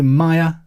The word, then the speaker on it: Mia: Finally, this week, hello to Maya. I say Maya, it's probably Mia, actually. I know 2 people that spell their name M-I-A. One pronounces it Maya, the other pronounces it Mia.